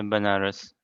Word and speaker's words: Banaras: bananas openers how do you say that yeah Banaras that's right promulgating the chanting of Hare Krishna